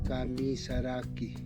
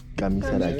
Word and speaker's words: Kamisaraki: El saludo es Kamisaraki. Kamisaraki.